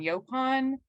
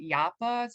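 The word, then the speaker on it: yaupon: pronoun we pronounce it yappa so there's no yo sound in there so i'm just gonna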